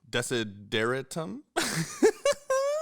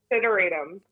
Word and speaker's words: desideratum: for the new song that you sent me, Desideratum. Or Desideratum, yeah. We had trouble with that too. It's a weird word. Yeah, well, just excuse my pronunciation of it. I'm sorry about that. Desideratum.